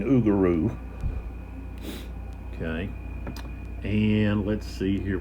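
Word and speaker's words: Augereau: and then uh uguru which I was pronouncing augier but it's okay from uh videos and so forth that I've watched uh I've been hearing oaro okay and let's see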